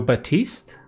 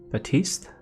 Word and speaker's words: Baptiste: people now is um it's french okay the p is silent okay so batiste batiste but yeah so if